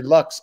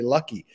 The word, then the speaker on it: Lucks: lucky you are and i was mispronouncing mary lux as mary lucky that's a lot closer